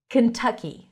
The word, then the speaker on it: Kentucky: Kentucky. Stresses on the second syllable. That's a cup sound. Kentucky. It's a bit more open than a schwa sound.